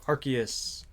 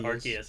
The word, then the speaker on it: Arceus: It's either a key or it's a C, and no one will ever know. Except for when you look how to spell it. Oh well. I mean, even if you spell it with the literal word key in it, people are still going to pronounce it Arceus, yeah.